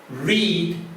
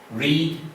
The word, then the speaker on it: read: Read, read. Notice the pronunciation is like the colour red, R-E-D. Read, read.